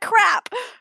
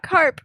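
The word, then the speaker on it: Krapp: her mom I'm crap crap what I'm sorry that's her name crap not y not carp crap and is it not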